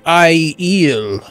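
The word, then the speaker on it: Aiel: It's funny because people are like, you pronounced ale wrong. It's supposed to be I-eel.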